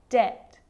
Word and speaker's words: debt: And the letter B is often silent when it's before the consonant T. So think of these examples. Subtle, debt, and doubt.